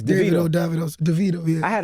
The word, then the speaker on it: Davido: Like, in the southern part of Africa, they be like Davido. Mm-hmm. But, like, in the western part, it's like Davido. So, Davido. My real name's David. Okay. So, yeah. It's Davido.